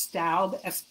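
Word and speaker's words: Staub: that you always see i think it's pronounced stoud s-t-a-u-b um and i don't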